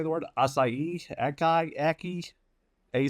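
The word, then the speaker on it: açaí: Akai. Aki. A c ai. I don't have You had it right the last time. Asai. Asai.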